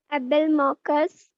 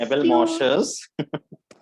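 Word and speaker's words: Abelmoschus: एबेलमॉकस। मॉकस नहीं रे, एस्क्यू एबेलमॉशस एबेलमॉशस एस्क्यूलेंटस।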